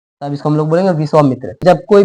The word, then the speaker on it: विश्वामित्र: तो इसको विश्वमित्र नहीं विश्वामित्र ही बोला जाता है।